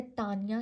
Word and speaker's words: Taenia: एक टेप form है जिसका नाम है तानिया। ठीक है? मैं तो तानिया ही प्रोनाउंस करती हूं। आप लोगों की मर्जी आप जैसे भी प्रोनाउंस कर लो। तेनिया होता है वैसे तो अच्छा तानिया सोलियम इन